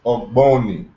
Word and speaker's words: Ogboni: And the Q sound in ancient Egyptian corresponds to a simultaneously articulated G and B sound. So kind of like how we say Geb, try to pronounce Geb without the E in between the G and the B. You pronounce both of those sounds at the same time. So it's Ogboni.